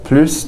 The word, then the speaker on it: plus: When you have this de and the plus together, you can pronounce the S. I generally prefer pronouncing the S. You don't have to. But I prefer doing it just because it differentiates from plus de, which can also mean